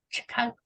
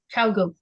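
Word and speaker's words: ChiaoGoo: that I absolutely loved until I got the Chicago. I can never say it right. Cowgoo? Cowgoo, thank you.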